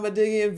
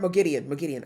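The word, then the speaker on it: Moghedien: Damn, they weren't kidding about Madigian being very smart. Mogideon. I have to say her name right.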